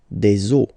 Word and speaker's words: eaux: then it will be, the rule is that you get to put x here at the end, but then same rule, you don't pronounce it. Des eaux.